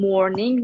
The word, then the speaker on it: mourning: whole country is in mourning nah mooring both of them are pronounced the same but the spelling is different they're they're they're homophones morning okay yeah m-o-u-r-n-i-n